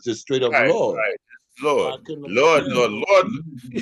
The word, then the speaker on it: Lyord: You know, Lord, you know, you don't pronounce the Y. It's just straight up, Lord.